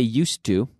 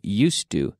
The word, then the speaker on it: used to: more often we say used to be careful the pronunciation used to used to used to we use